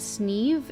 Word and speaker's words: Sneem: It seemed our first town we went to was, it's spelled like Sneem, but I believe it's pronounced Sneeve.